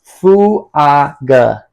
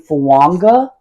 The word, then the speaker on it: Fuaga: I googled it. His name is pronounced Fuaga on the internet.